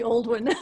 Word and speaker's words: Aldwyn: So Aldwyn, is that how you say it? It's actually Aldwyn.